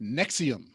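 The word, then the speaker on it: NXIVM: even stupider than that it's NX uh I VM pronounced Nexium okay okay you know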